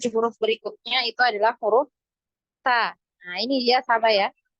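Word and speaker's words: ت: punya aliran nafas nah huruf Ta ini dia punya aliran nafas ya ada aliran nafasnyaah atau yang biasa kita kenal dengan eh sifat Hames nah nah pernah dengar ya Hames ya Jadi ada suara ee bukan suara ada nafas ya ada aliran nafas ketika kita mengucapkan huruf ta ya Ta Ta nah ini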